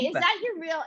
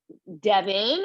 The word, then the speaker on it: Devine: divine, Hey, divine. is that your real name? That's my last name. It's on Divine. my back. I love it. Okay, because we could have pronounced it Devin or whatever. No, Divine.